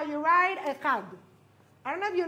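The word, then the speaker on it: אחד: Echad.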